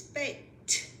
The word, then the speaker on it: baked: The one where ED just sounds like a T is baked. The reason it is a T is because K does not vibrate. It does not use vocal cords.